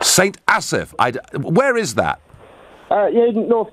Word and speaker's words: St Asaph: How do I pronounce the name of your town, Neil? St Asaph. St Asaph.